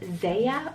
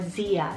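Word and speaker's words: Zea: one of the options here is the name zaya or zia depending on how you want to pronounce it it's spelled z-e-a it's latin originated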